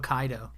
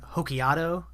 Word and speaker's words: Hokkaido: watching this uh dubbed all the English voice actors are mispronouncing every single Japanese word or place name so at one point I'm talking about Hokkaido and Godzilla's gonna land in Hokkaido but they're all calling it hokiato um you know it's